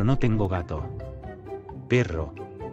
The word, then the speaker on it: perro: Perro.